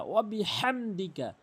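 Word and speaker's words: وبحمدك: চারটি ভুল করে থাকি ওয়াবিহামদি কাফ জবর কা ওবিহামদিকা ওয়াবিহামদিকা ওয়াবিহামদিকা সুবহানাকা আল্লাহুম্মা ওয়াবিহামদিকা ওবিহামদিকা এভাবে উচ্চারণ করবেন তাহলে আমাদের সঠিক উচ্চারণ হবে।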